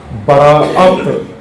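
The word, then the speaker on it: براءت: اصل کیا کہنا چاہیے تھا؟ براعت. براعت، الف جو بیچ میں اس پر حمزہ ڈال کے براعت، لیکن وہ عامیانہ تلفظ میں برات بن گیا.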